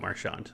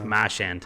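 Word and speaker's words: Marchand: I forgot about Marshand. Maran Crosby. Uh Maran's been playing with Crosby. You're saying his name wrong, by the way, to to the Bostononians out of there. It's Mashand.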